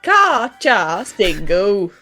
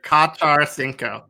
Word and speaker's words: Carchacingu: Well, let me correct you, love. It's the No, I said it wrong. Now you're getting my brain confused. The Char, no, I said it wrong. Yes. The Carchacingu. That's how you say it. The Carchacingu. Repeat after me, everyone. It's the Carchacingu.